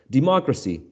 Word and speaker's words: democracy: from right to left democracy the democracy one two democracy democracy so the stress goes on the third syllable from right to left or a compound noun